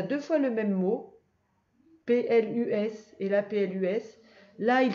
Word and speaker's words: plus: fois le même mot, P-L-U-S et là P-L-U-S. Là, il se prononce plus et là, il se prononce plus. Donc pour savoir le prononcer, ça dépend à quel endroit il est dans la phrase.